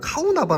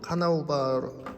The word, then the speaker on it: 카르나우바: 전 항상 " 카우나 바 " 라고 발음 하지만 , 카르나우바 왁스 맞습니다 .